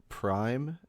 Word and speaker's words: PRHYME: I want you to listen to Prime the deluxe version but it is spelled pyme p r h y m e no P what p